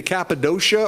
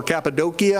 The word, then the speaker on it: Cappadocia: before you've been to Cappadocia or Cappadocia however you want to pronounce it okay me shack